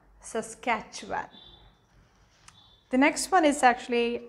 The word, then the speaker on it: Saskatchewan: in um in this list would actually be saskatchewan all right so that's one of the toughest names to pronounce and it is easy if you just give it a try is saskatchewan saskatchewan the next one is actually um manitoba now